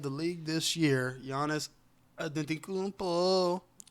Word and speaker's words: Antetokounmpo: the MVP of the league this year, Giannis Antetokounmpo. Say his name. Antetokounmpo.